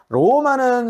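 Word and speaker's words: Roma: 이렇게 표현하시는게 맞습니다 자 로마는 스페인으로 딱 봐도 똑같이 쓰이는 것 같죠 그죠 하지만 바르면 조금 다릅니다 왜 우리 스페인어의 발음 규칙상 단어 메인 앞에 나오면 반동 그리움으로 따르릉 한다고 했습니다 그죠 그러면 로마 로마는 꾸준히 연습 하시겠습니다 저와 함께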